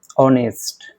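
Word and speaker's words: honest: है तो इन लगेगा जो कि एच यहां पे साइलेंट होता है जैसे ऑनेस्ट एन ऑनेस्ट एन ऑनेस्ट मैन एन ऑनेस्ट मैन हां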